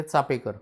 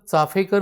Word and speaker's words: चापेकर: कारण बऱ्याच जणांचं चाफेकर बंधू असंच उच्चारण ऐकल्यानंतर माझंच पुस्तक आहे चापेकर पर्व म्हणून, तर मला अनेकांनी विचारलं स्पेलिंग मिस्टेक आहे का म्हणून. म्हटलं चापेकरच बरोबर आहे, चाफेकर नाही.